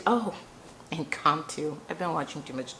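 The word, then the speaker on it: Incanto: I can too. Oh, Incantto. I've been watching too much Disney. I can too. So, it's spelled I C A N.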